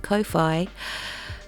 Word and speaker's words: Ko-fi: I think you're supposed to pronounce it Ko-fi.